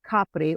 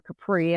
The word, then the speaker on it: Capri: of Naples of course most people are familiar with Capri or Capri as the Americans pronounce it but Isa is right